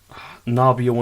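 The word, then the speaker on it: Gnomeo: No, I think you pronounced that wrong. Isn't it Romeo and Juliet? Nobio and Juliet.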